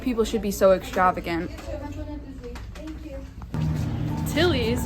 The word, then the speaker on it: Tilly's: Tilly's, it rhymes with Killies.